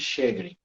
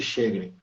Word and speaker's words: Sjögren: disse naquela época que a pronúncia correta era síndrome de chedre e a gente teve a oportunidade de perguntar lá na Suécia como eles pronunciavam mostrando por escrito né esse nome realmente eles pronunciaram síndrome de cheguem foi oftalmologista que escreveu